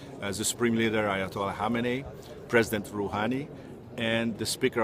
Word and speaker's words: Khamenei: It looks like Khamenei, but it's actually pronounced Khamenei, I've found.